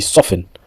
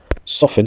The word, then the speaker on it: soften: Quand on dit quelque chose souvent, on dit often, on dit pas often, on dit often.